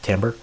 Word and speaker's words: timbre: think of it sound like timbre but it's pronounced pick Tambor so timbre matching is basically keeping this same